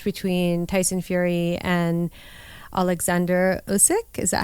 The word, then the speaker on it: Usyk: But May, again, there was a clash between Tyson Fury and Alexander Usyk.